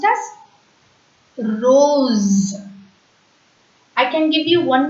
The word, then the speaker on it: rose: told you already sir but when s comes between two vowel sounds O is a vowel sound e is a v sound then yes becomes is it sound so r o s e will be pronounced as Rose and not rose that z sound should